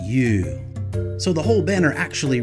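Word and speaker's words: 湯: It means hot water, and it's pronounced you.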